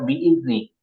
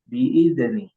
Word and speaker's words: بإذن: Kemudian selanjutnya tadi di kata biizni. Nah, zal ya. Coba biizni fiha biizni. Nah, itu tidak memantul ya. Tidak dipantulkan. Jadi bukan qalqalah. Bukan qalqalah. Qalqalah itu hurufnya baju di toko saja. Adapun ini jadi bukan huruf qalqalah dan jangan dipantulkan. Jangan dibaca fiha biidzni.